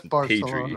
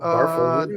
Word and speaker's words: Barcelona: You have to say it with almost like you're a Daffy Duck if you're from Spain. Yep. That's how they pronounce. Trust me, I've been to Spain a bunch. I've had to do it like 100. Barcelona. Barcelona. Yeah. You guys talk with a lisp.